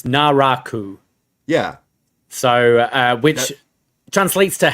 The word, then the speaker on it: Naraku: According to Google, the pronunciation is Naraku.